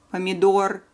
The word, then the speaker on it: помидор: remember very quickly, and they are all ending on consonant R, and all of them have final syllable stress.